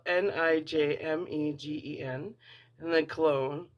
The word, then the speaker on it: Cologne: And this says Nijmegen, which is spelled Nijmegen, and then Cologne, like cologne.